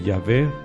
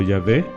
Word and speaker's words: Yahvé: el tetragrama Sagrado no de yahvé o Jehová como quieran pronunciarlo porque en la escritura hebrea se escribe solamente con consonantes no con vocales entonces sea Jehová o yahvé son las dos formas de pronunciar ese ese tetragrama no entonces bueno qué